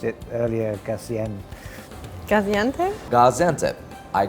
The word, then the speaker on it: Gaziantep: the heart of Turkish cuisine, which is, you pronounced it earlier, Gaziantep? Gaziantep.